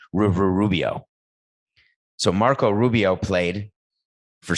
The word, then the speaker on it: Rubio: not that good anymore i know it's rubio coco stop yelling in my ear sister's studio is a song by phil collins that rhymes with rubio so marco rubio played